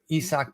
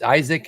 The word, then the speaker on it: Isaac: Talk to us a bit about the Rays guy here, Isaac Paredes. It's Isaac if you're if you've read the name before, but it's pronounced Isaac.